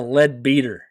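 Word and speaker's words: Leadbeater: Webster lead lead beater I would think it would be lead better but no it is spelled l e a d b e a t r that is a lead beater oh man so they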